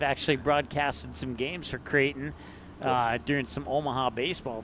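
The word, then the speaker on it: Creighton: the name pronunciations and when I was talking to him about dare dare and he's like kraton and then I went and spelled it out as C re i g h t o n he's like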